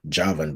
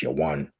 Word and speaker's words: Javan: everything is dealing with Yawan, all right, or Javan, but it's actually pronounced Yawan, all right, which when